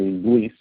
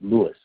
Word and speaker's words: Luis: So it's really nice to finally be Luis instead of Louis.